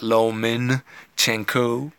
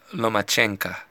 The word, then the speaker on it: Lomachenko: name correctly it's not lo min Qiang qu it's not lo mo it's not luma chinko from what I heard it's no match ANCA anyway Vasily lomachenko as